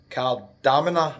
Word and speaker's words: Kardamena: Stereo Apartments in Cardamina, I think it's called. That's how it's pronounced. The bus driver told me that.